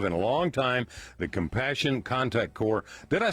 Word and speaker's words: Compassionate Contact Corps: have heard of in a long time, the Compassion Contact Corps.